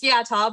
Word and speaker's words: Yata: It was close. It's Yata, but that's good.